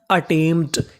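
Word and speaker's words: attempt: A double T ई एम अटेम और आगे पी टी तो पूरी मीनिंग अटेमप्ट। यहां पे टी हमारा दो बार है। पढ़ना है एक बार।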